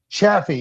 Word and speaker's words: Chaffee: Is that how you say it? Chaffee? Chaffee, yeah. It's called Chaffee, Missouri.